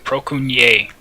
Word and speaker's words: Procunier: So, Douglas Procunier, Procunier. I think I pronounced it right the second time. Procunier. That's what it is.